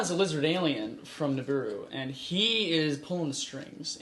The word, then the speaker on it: Nibiru: two things 1i believe it's actually pronounced Nibiru the tenth planet the